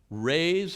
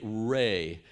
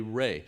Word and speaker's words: Ra: Rays of the great ray. It wasn't pronounced Ra. E Ancient Egyptians pronounced R A ray. In fact, some archaeologists will intentionally write the name R E so we say ray instead of Ra, but it doesn't matter.